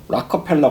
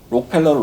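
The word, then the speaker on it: Rockefeller: 그 경제적인 상황도 사실은 미국에서 그때 당시에 이제 뭐 석유 회사들이 엄청난 돈을, 락커펠러 같은 사람들이 엄청난 돈을 벌어들이고, JP 모건도, 록펠러를 락커펠러라고 발음합니다, 미국에서.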